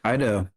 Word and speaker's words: Kaido: which is awesome and you pronounce my name perfectly most people say there's uh you nailed